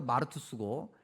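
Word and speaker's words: μάρτυς: 그 헬라어 발음으로 마르투스고 헬라어가 계속해서 이제 서양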